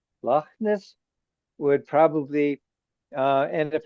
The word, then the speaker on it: Loch Ness: And the Scots love very like ch sounding words. Lness. would probably uh and if a tourist you like was in Scotland and you know like and you said Lochness you know some eyebrows